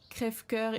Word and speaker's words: Crève-cœur: Crève-cœur is pronounced Crève-cœur.